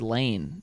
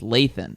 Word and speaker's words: Lathan: lathan i said lane it's lathan yeah so now lathan